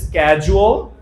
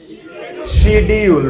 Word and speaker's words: Schedule: উচ্চারণ হবে দুই রকম হয়, একটা হচ্ছে স্ক্যাজুয়াল অথবা আমরা কি কই, শিডিউল, রাইট। আজকে থেকে বাদ।